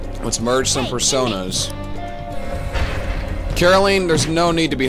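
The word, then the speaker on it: Caroline: let's merge some personas Carolyn there's no need to be hostile and it's weird calling you that I know it's because it rhymes with Justine but still it sounds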